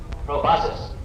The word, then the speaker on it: proboscis: Proboscis. Proboscis? Yeah, rhymes with colossus.